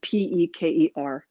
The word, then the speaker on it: peker: It's spelled pecker, but I'm a 14-year-old boy, and it just saying pecker, I just want to go her. It's usually rendered peker, and nobody's 100% sure what it actually was.